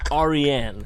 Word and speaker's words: Aryan: It's pronounced Aryan. Persian.